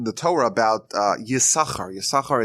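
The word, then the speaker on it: Issachar: Torah about uh yakar yakar is the is the one of the sons of Jacob isachar I think it's pronounced in English and when Jacob is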